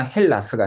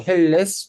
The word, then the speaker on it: helles: 그래서 이것도 사격 중성 단수를 표현할 때 다스를 와줘야 되니까 그 다스의 변화형이 발음 변화 때문에 둥클라스나 헬라스가 아니고 헬레스 오더 둥클레스라고 하면 일반 맥주 드릴까요?